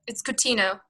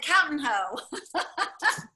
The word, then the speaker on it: Coutinho: I'll let pronounce her last name for you. Yeah, it's Coutinho. Oh gosh, I would not have said that right. That's okay. I would have said Coutinho.